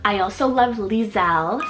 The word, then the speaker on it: Liselle: soft and sweet sounding name I also love lizelle spell l-i-s-e-l-l-e liselle this is an English rooted name meaning